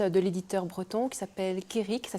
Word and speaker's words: Kerig: Sinon, en ligne, on peut l'acheter sur le site de la FNAC et sur le site de l'éditeur breton qui s'appelle Kérik, ça s'écrit KERIG.BZH, comme Braise, qui veut dire Bretagne.